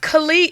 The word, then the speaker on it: Khaled: Khaled is pronounced Khalid. If you look the way he spells his name, that's Khalid.